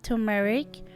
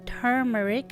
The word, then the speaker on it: turmeric: Next, I'm going to add 1/2 Tbsp of turmeric or turmeric. It's pronounced either way, but as Belizeans, we just say yellow ginger.